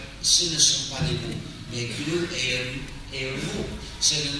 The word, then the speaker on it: GNU: de notre système d'exploitation, il faut ne pas suivre le dictionnaire pour éviter la confusion, parce que notre système n'est plus nouveau, mais il est toujours GNU. Donc il faut le prononcer GNU. Nous avons travaillé 31 ans dans son développement. Nous l'utilisons depuis il y a 23 ans. Donc le système n'est plus nouveau. Mais il reste GNU.